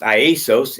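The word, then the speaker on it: Ἰησοῦς: In the Greek concordance, Jesus's name is Iesos. It's not even called Jesus in Greek. It's pronounced Iesos, and his number is 2,424.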